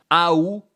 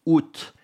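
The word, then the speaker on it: août: parler du mois d'OT il y a deux prononciations possibles du mois d' A ou c'est pas une de ces prononciations il faut dire soit ou ou bien prononcer le t out c'est vu comme étant un peu vulgaire de dire aou ou même encore pire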